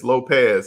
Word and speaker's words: Lopez: Frank Lopez says, you said it right. Lopez. Yes, I figured it was Lopez. I know I was saying lopes for the first time.